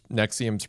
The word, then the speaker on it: NXIVM: Although you would never guess NXIVM's pronounced that way if you look at it.